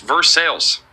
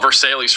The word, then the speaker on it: Versailles: Police scanners say it's vers sales. Bro, I don't I don't even know anymore. I checked on Wikip Wikipedia on Reddit. It's indeed pronounced vers sales.